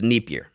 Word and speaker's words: Dnieper: The Dnipro River? Yeah. The Dnieper. Is that how you say it right? It's Dnieper. So Thank you.